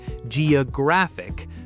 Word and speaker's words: geographic: Another one, words ending in ick or ickle are almost always stressed on the syllable right before the ending. So we get economic, historic, geographic, photographic.